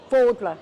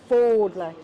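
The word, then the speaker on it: Fódla: And the other one is Fodla, not Fadla, but Fodla. Fodla. Like you're folding your clothes.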